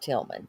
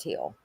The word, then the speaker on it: Thiel: It's Emtt Thiel, not Tilman. Emmit Thiel.